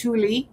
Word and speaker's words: Thule: And it'll tell you all the facts about what used to be the Thule Air Base, and now it's always pronounced Thule, okay, located in Greenland.